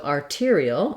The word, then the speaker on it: arterial: er for the ear so arterial again has my r this time i'm shorter on that longer on my tear and then two syllables e and o our dark syllabic l with the schwa before it arterial so um he had